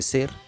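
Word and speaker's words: SEELE: Los humanos dejaremos de ser una cosa imperfecta y pasaremos a ser una cosa perfecta, según SEAL. De hecho, dato curioso, SEAL se pronuncia Ser en alemán, que significa alma.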